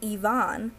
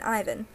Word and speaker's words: Ivan: is Ivan binsky pronoun pronounced Ivon rather than Ivan which is a mistake many fans make including myself his first name may